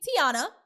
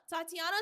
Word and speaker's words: Tiana: school high school college you mispronounce my name Tiana I'm saying it immediately Tiana oh they'd be like Tanya Tiana Tatiana Tiana like I don't care don't